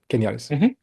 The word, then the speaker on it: Genialis: Genialis. Genialis. In the US, it's the soft G. In Slovenia, it's the hard G.